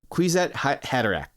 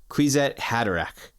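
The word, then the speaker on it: Kwisatz Haderach: Yeah, so it is spelled KWISATZHADRERACH. Quitsat Haderach. Arg. I'm going to go back to the previous page just to see and make sure I am set. So, Quitsat Haderach.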